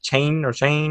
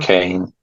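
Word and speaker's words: Caine: I think they call him like Chain or however you say his name. Kane, Kane.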